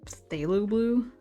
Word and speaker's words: phthalo blue: Was it phthalo blue? Yeah, okay, I said it right apparently.